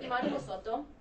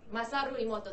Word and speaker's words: Masaru Emoto: Imani Mosoto. I keep mispronouncing his name, but I believe him. Masaru Emoto, thank you.